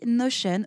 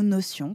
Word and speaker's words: Notion: fois de cet outil c'est l'outil notion ou notion comme vous préférez le prononcer nos chaînes c'est devenu